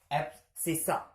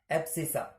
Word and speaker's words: abscissa: Spelling ABSCISSA, sorry spelling मैंने गलत लिख दिया, ABSCISSA, एप्सिसा, एप्सिसा।